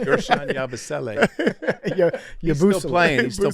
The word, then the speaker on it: Yabusele: It's Gershon Yabusele.